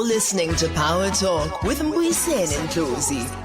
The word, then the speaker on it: Mbuyiseni: Thank you for having me, Dr. Mbuyiseni. And did I pronounce your name correctly? You have pronounced it correctly.